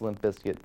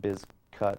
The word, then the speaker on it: Bizkit: Originally, it was always pronounced Limp Bizkit, I believe, but originally the name was spelled B-I-Z-K-U-T, the biscuit was, but they changed it because they didn't want people pronouncing it Bizcut, I believe.